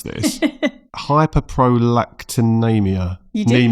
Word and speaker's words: hyperprolactinemia: Now I'm going to try my best to pronounce this. Hyperprolactinemia.